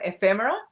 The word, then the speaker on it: ephemera: Yeah, I throw the emphasis on F, so ephemera, and then I say them as quick as possible.